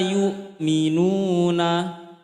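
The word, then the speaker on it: يؤمنون: Fahum la yukminuna. Masih lemas ya hamzahnya tadi ya. Yuk tekan ya. kurang menekan kemarin Hamzah itu tekan membacanya.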